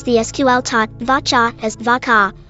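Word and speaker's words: varchar: SQL TP vaa as V car I pronounce the cha part to sound like car as an automobile and the VA part to run with it but all of this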